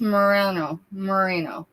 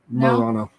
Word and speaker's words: Murano: Who likes Merino? Am I pronouncing it either way correctly? Murano.